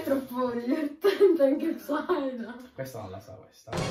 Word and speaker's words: Psyduck: Psyduck, la pronuncia giusta, Psyduck. Allora. Perché c'è appunto ai, che fa parte del culo.